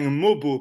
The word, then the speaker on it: Mogbo: 19 ils ont repêché Jonathan mobo parce qu'on a appris qu'il fallait pas prononcer le G euh je me rappelle